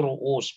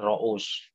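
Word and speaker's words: رؤوس: Itu ru'us, bukan ro'us.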